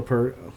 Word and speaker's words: Peart: It's like Peart. yeah, Peart. the fruit.